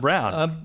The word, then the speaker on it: Braun: Christian Braun It's actually pronounced Braun.